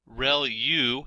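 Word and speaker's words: ReLU: there are multiple hidden layers like convolution layer Rel U is how that is pronounced when that's the rectified linear unit that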